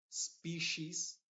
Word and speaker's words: species: pronunciando como una sh por ejemplo species te das cuenta que la i no se está pronunciando la e es la que se está pronunciando como una I y la i es parte de la combinación si y Eso dijimos que se pronuncia como sh species aent ancient efficiency special